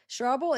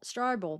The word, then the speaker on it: Strouble: Why do I keep wanting pronounce it Strouble, but maybe it is just pronounced Strouble, like trouble, because it's trouble.